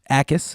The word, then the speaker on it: Jacas: Jacas is how it's pronounced.